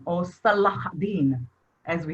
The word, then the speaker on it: Salahuddin: The representative, the main ruler of the Muslim was Saladin, or Salahuddin, as we say it right here.